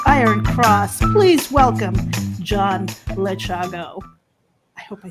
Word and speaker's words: Lechago: I've gotten some really strange interpretations of the pronunciation of my name, but you basically, what your strategy was, pronounce it as it is spelled.